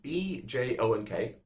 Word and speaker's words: Bjonk: It's spelled B-J-O-N-K. So it's not bonk, it's Bjonk. I think.